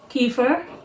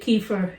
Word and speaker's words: kefir: So this is the non-dairy kefir. There's several ways to pronounce it.